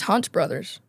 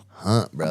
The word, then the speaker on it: Hunt Brothers: Yeah, I think it's Hunts Brothers. Is there an S at the end of it? Was there more than one? There you go, girl. Hunt Brothers. I've been saying it wrong. Hold on. Hunt Brothers. But that's what it is.